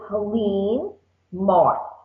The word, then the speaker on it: Helene Martz: My name is Helene Martz, and it's spelled HeleneMartz, like in zebra.